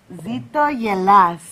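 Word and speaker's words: Ζήτω η Ελλάς: Greek culture zto Yas that's what we say zitto Yas yes nice nice long live Greece beautiful zor Yas I said it right yes all right I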